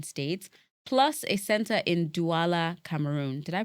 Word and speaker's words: Douala: across 15 Nigerian states, plus a center in Douala, Cameroon. Did I pronounce that right? Yeah, Douala, yeah.